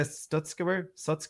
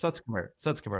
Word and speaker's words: Sutskever: I always have trouble pronouncing his name. You mentioned Ilya Sutskever? Yes. Sutskever, I think Indeed, it is.